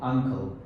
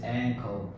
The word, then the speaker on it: ankle: just mentioned ankle yeah that is you were pronouncing you word Uncle so that starts with you and the the word exactly is ample so you should pronounce this word as ankle yeah sir that's true by the way I